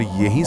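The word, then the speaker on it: ja: German में जे का उच्चारण हमेशा य होता है। जैसे अंग्रेजी का वाई। हमेशा कोई अपवाद नहीं। कोई अपवाद नहीं। जैसे हां के लिए शब्द है या। जिसे बोलेंगे या।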